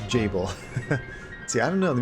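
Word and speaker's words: Gebel: you've decided to awaken Gables tell me you didn't do this oh it's even pronounced Jabil see I don't know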